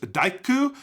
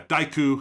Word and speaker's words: Daiku: Uh, our final member of the Sandrats is Daiku, which is awkward because when you write it out in English, it's just the word dyke, which sounds, you know, wrong when I say it like that, but uh, yeah,